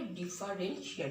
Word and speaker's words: differentia: হঠাৎ বলবে বিভেদক লক্ষণে ইংরেজি শব্দ লেখো, ডিফারেন্সিয়া, মনে রাখো টি আছে, উচ্চারণটা হবে ডিফারেন্সিয়া, DIFFERENTIA।